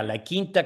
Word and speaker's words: La Quinta: La Quinta. La Quinta? Yes, say it correctly, doggone it. No, that's yeah, La Quinta, California.